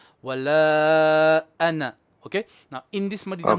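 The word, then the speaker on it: أَنَا: Okay, this word is anna. It is written with an alif, but the alif is not pronounced.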